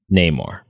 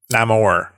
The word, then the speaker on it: Namor: We didn't know if he would come, when he would come, but we sure as hell wanted him to come in Neymar. Namore.